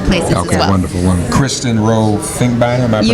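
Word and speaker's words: Kristen Rowe-Finkbeiner: Kristen Rowe Finkbeiner, am I You pronounced?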